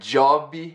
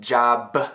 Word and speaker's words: job: Same thing with job. It's not jobby, it's not job, it's job. Almost pronouncing it, but not letting that puff of air go, right?